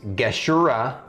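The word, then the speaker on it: Gashura: really the one to worry about and it's geshura worm tooth it's g-a-s-h-u-r-a and as soon as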